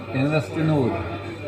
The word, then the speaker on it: Investinor: You can say INVESTINOR.